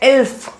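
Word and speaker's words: elf: 11 को बोलते हैं एल्फ।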